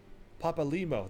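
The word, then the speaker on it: Papalymo: Papalimo, that's how you say his name.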